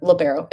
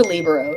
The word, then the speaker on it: libero: I can't even talk labero labero is how you pronounce it or Libo it kind of just depends um where you're from at all good pregame